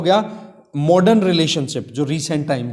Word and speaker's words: tsar: गया था, ठीक है, TSAR जार, ठीक है, इसको टी को साइलेंट कर लेना आप।